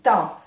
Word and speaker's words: temps: Temps. Se escribe siempre así, temps. Se termina con P y una S, que no se pronuncia. La EM, temps.